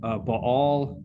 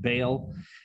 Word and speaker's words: Baal: It's the worship of Baal, or if you want to English mispronounce it, Baal.